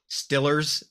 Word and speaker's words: Steelers: So like most people who live like in the heart of Pittsburgh, it's not the Pittsburgh Steelers, the football Oh team. God, It's the it's the Stillers, Pittsburgh Like Steelers. Ben Stiller. Like Oh, that's how they I say don't it.